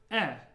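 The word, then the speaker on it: Э: sound at the beginning it's just e e like in better e and the way I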